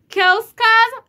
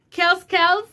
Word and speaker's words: Kellz Kaz: I pronounce Kellz Kaz, Kellz Kaz, Kellz Kaz, Kellz Kaz. So it is Kellz Kaz.